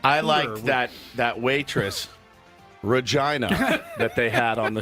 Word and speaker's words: Regina: city that rhymes with fun. Yeah. That's right. Regina.